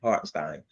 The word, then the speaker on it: Hartenstein: What is it? Stein. Hartenstein. Okay.